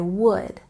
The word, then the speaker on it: would: Remember, with would, we don't pronounce the L sound. I would.